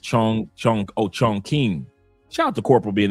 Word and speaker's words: Chongqing: It's pronounced Chong Chong. Oh, Chongqing. Shout out to Corporal being in the building watching from Andre's channel. He says pronounced Chongqing.